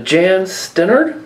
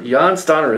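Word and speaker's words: Jan Stenerud: got a uh and I always pronounce his name wrong and I apologize but a Jan stenard Sten yan stanner yan stanner there you go out of 25 auto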